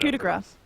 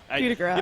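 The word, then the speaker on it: coup de grâce: How do you pronounce the ability of PA, the ultimate? Coup de grace. Coup de grace? Okay. Coup de grace. I mean, that's how I say it.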